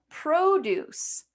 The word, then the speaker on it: produce: When we use these identical words as nouns, we have produce. Produce. So now you've got this first syllable. Okay, the stress is going to be on that first syllable.